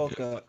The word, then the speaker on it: Fukuoka: It was Well, it was something like Fukuoka. Fukuoka. That's where So the event was taking place Fukuoka.